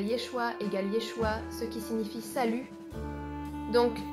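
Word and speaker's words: ישוע: Et parfois, je voyais juste ces gens qui tenaient des pancartes avec Yeshua, qui est la prononciation hébraïque, comme le stéréotype hébreu. La prononciation pour Jésus égale Yeshua, ce qui signifie salut.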